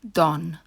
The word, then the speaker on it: Don: Italy is Don or the Italian pronunciation Don while Padre is for